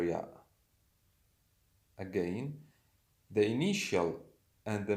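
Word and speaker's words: ي: The letter is called ya, but the pronunciation, the sound of this letter is E.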